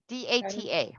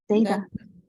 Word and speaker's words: data: DATA. What is DATA? Data. Data. Data or data? Oh. Data. Both. Both are correct.